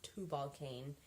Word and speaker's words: Tubal-Cain: The third column in Reaper Society is Tubal-Cain, which, and this spelled, of course, this is supposed to be a U. It's Tubal-Cain.